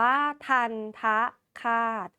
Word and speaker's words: ทัณฑฆาต: ดู กัน เลย ค่ะ ันท คาต นะ คะ อ่าน ว่า ทันทะ คาต ซึ่ง ทันทะ นั้น มี